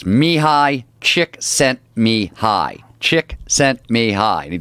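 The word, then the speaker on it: Mihály Csíkszentmihályi: of flow psychology, was how do you say his name? Mihai Chick Sent Mihai. That's his whole name? That's how he's Hungarian.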